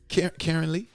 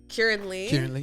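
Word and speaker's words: Keiran Lee: Karen Lee? Kieran Lee.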